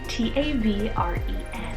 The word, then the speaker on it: Tavren: Then I have Tavren for the boy side, T-A-V-R-E-N, Tavren. Now, I thought that was kind of like mysterious sounding, kind of sounds like a tavern.